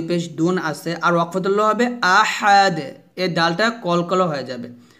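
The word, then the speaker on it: أحد: এখানে হবে না বলবেন আহাদ এখানে আছে আহাদুন দাল দুই পেশ দুন আছে আর হবে আহাদ এর ডালটা কলকল হয়ে যাবে আহাদ আহাদ এভাবে আমরা অনেকে এখানে আহাদ বলি আহাদ বলবেন না বলবেন আহাদ এভাবে আমার সাথে বলেন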